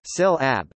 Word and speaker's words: συλλαβή: Syllable is an Anglo-Norman variation of Old French syllabi, from Latin syllaba, from Koine Greek syllabi syllabi, Greek pronunciation, syl ab.